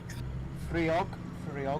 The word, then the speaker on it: Friog: Is that frog cutting, or would you pronounce the I? Friog, I'd say.